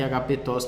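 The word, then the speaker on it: ἀγαπητός: E lembrando que a tonicidade está aqui, ó, agapetos. Mas só para você lembrar que agapetos tem um som de E fechado.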